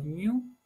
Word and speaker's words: GNU: en lo que llamó el proyecto GNU, habitualmente pronunciado GNU, para crear un sistema operativo completo 100% libre.